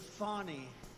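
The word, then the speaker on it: Fani: But many many people their lives have been destroyed because of Fonnie. Fan Ni. Fi. You have to pronounce it Fonnie.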